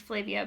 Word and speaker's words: Flavia: the main character Flavia, who I understand her name is pronounced Flavia, but that is very difficult for me to remember, so I'm just going to keep saying it incorrectly knowingly, changes a lot in this book.